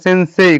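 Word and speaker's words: せんせい: সেন্সেই তালে অবশ্য উচ্চারণ করা যায়। আবার মাঝে মাঝে সেন্সেই এই যে সে এভাবে উচ্চারণ হয়। মাঝে মাঝে স ওই যে সটা ওই রকমের সেন্সেই। ঠিক আছে? মানে ওই স মুখের ভিতরে থাকে সেন্সেই।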